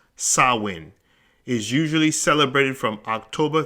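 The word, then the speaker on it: Samhain: GIC word pron pronounced sawin s a h w i n the very word itself is spelled s a m h a i n but it's pronounced sawin is usually celebrated from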